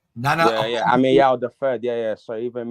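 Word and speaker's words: Ameyaw: Nana Amewa the Third, right? Nana. Yeah. Ameyao the Third. Yeah. So even me, Amewa. It's spelled name.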